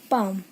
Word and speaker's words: palm: जैसे मेरे पास वर्ड है पाम, इसे हम पाल्म नहीं बोलेंगे, पाम बोलेंगे।